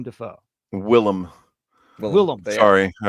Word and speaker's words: Willem: 2 Nosferatu movies that star William Dafoe. Willem.